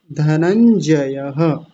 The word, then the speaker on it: धनंजयः: अब इससे अगला शब्द है धनंजयः विसर्ग का जरूर ध्यान रखेंगे। धनंजयः धनंजयः ऐसा हो जाएगा।